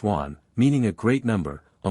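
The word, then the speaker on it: 卍: In China the swastika sign is pronounced wan, meaning a great number, a multitude, great happiness, longevity.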